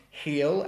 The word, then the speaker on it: heal: So the two last ones, heel and heel, have the same pronunciation, but hill has the short I, whereas heel has the eel, eel.